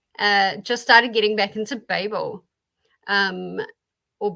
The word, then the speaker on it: Babel: There is debate and contention as to which way you pronounce that. I automatically say Babel, but after reading it a little bit, and I also have to pick it back up. The nickname for them is babblers.